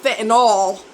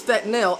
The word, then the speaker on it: fentanyl: is being mixed with fentanyl not fanol there's nothing in that spelling that is Al it's not fanol it's fanil everybody says Fentanyl and